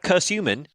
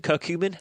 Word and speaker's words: curcumin: true they said that curse human because you mean curcumin cooking really a cumin